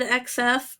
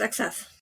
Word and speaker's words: XF: Is that how you're supposed to pronounce XF? I always said XF, but I've heard people say Crossfire. Yeah. I mean, I know in Japan it's Crossfire. I also knew of it only as XF, but now that I